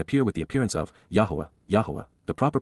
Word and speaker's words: Yahowah: to face and appear with the appearance of yahwah yah the proper pronunciation of the name of eloa God as